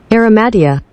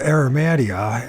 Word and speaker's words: Arimathea: Aromatia. Aromatia. Did I spell that right? Aromatia. Oh, they want to call it Aromatia. Okay. Joseph of Arimathea is reputed to have brought the Holy Grail,